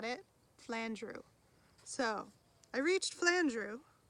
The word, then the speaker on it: Flandreau: flandreau but it's not flandro it's flandrew okay got it flandrew so i reached flandrew rhymes with andrew at lunchtime and decided